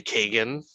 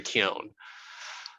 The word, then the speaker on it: Keoghan: But Barry Keoghan, for anyone who says Barry Kagan, I hope you're just, I hope you continue to say it, and someone Irish is like, "You dumb motherfucker," Barry Keoghan. So hopefully that's the way it's pronounced.